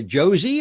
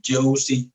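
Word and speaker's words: José: sir are you a jose are you a josie or what how do you how do you like to be referred to jose is perfect and although you can't you can say josie joe whenever you want whatever you feel more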